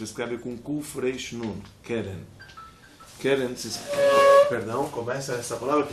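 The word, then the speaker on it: קרן: Mas tudo bem, mas voltando aqui, keren também é chamado chifre, e tem um versículo no Teilim que ele vai explorar.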